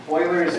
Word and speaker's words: Euler: Euler's algebra. Euler's algebra. Yeah, Euler's algebra. It's spelled. We did not finish. It's not spelled like oil fields. It's spelled E-U-L-E-R.